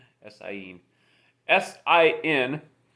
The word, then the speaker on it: sin: right yes i in s-i-n pronounced scene means without in spanish when you say scene